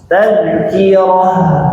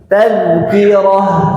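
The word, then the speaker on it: تَذْكِرَة: Tazkirah coba. Tazkirah zakarah. Zakarah pakai ha bukan haar.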